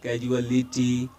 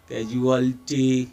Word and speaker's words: casualty: word is casualty yes it's not like that casuality casualty it's casualty yes it's casualty and next